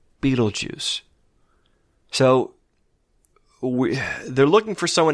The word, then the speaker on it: Beetlejuice: So Adam mispronounces it Beetlegooser. On a wind suddenly blowing through the trees, we hear the ominously whispered pronunciation. Beetlejuice. Barbara repeats it.